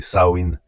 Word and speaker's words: Samhain: Les Selt appelaient ce festival Samein prononcé Saoin.